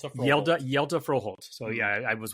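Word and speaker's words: Hjalte: I was way off and then I looked for it and he said it's like Zelda like Legend of Zelda but with a Y instead of a Z.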